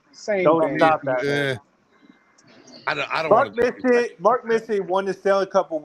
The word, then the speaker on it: Messier: It's Mark Messier.